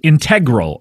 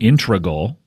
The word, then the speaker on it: integral: crazy and I said I believe it's either integral integral integral or integral integral integral that's not intregal it's certainly not in certainly not that